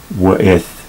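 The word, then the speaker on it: ואת: In modern Hebrew, this W is pronounced as a V, but in classical Hebrew, it was pronounced as a W. So we'll say W'eth Ha'aretz.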